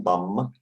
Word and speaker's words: bomb: excuse me it's bum you don't pronounce b at the end of the word so hydrogen bomb in the past